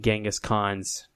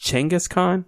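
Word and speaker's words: Genghis Khan: Um, which apparently it's pronounced Changaskhan. I didn't in Mongolia. They're convinced we've we've mistransated the G and it should be a C.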